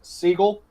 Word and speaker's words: Seagal: The one that still makes me laugh is Seagal's surname is actually pronounced Seagull.